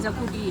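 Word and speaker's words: xacuti: वो लोग खाते हैं ऑमलेट, उसके ऊपर चिकन ग्रेवी जो होता है वो जो कि है चिकन जकूटी बोलते हैं प्रोनाउंसिएशन, हाँ जकूटी है।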